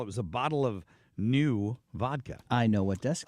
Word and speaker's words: Nue: That is New Vodka. It's spelled N-U-E.